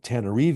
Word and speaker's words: Tana: straw hat merchants of tanar or better known as what the locals say Tana which is the capital